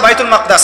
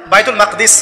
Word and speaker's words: বাইতুল মাকদিস: এবার এই বোরাক চলে গেল বাইতুল মাকদাস। এটা কোথায়? বাইতুল মাকদিস, বাইতুল মাকদাস না, বাইতুল মাকদিস। বিভিন্ন মানুষ বিভিন্ন উচ্চারণ করে।